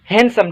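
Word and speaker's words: handsome: आठ number word आए हैंडसम हैंडसम ठीक सोते डी खामोश आए हैंडसम पढ़ब ठीक हैंडसम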